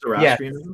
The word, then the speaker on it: Zoroastrianism: You mean Zoroastrianism? Yes, I am terrible at pronunciation.